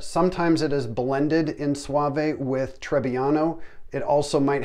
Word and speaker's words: Soave: think this is pronounced Soave or Soave, but to help you remember and never ever again forget how to pronounce it, it sounds exactly like this. Rico. Soave.